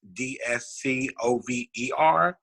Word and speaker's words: DSCover: It is spelled a little bit different. It's DSCover. DSCover, Discover Your Design.